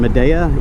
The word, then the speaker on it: Midea: I found some from, I think you pronounce the brand Midea, M-I-D-E-A, Midea.